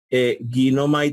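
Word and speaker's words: γίνομαι: Si tú ves a Ginomai en griego, Ginomai tiene en su forma léxica, Ginomai tiene el acento en la iota al principio.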